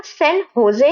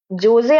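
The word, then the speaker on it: San José: Costa Rica का सैन होजे है, देख लीजिए, ये जोजे आप नहीं पढ़ोगे, इसको आप प्रोनाउंसिएशन आपका होजे होगा, ठीक है, सैन होजे है।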